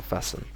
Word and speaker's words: fasten: yeah just simply fasten so we don't say this T and the E is like a u so fasten and commonly you'll hear